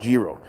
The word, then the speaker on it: Gyro: Gyro. The owner pronounced it Gro.